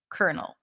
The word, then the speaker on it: kernel: It's the same pronunciation as the word kernel with a C. Kernel.